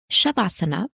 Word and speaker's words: Shavasana: we struggle to explain Shavasana, or we struggle to get people to really understand the depths of Shavasana. So right at the top, Shavasana is pronounced as Shav Asan or Shav Asana.